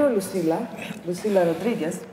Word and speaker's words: Lucila Rodriguez: And you, Lucila Rodriguez, you are the head of PorCausa. Mm-hmm. I pronounce well?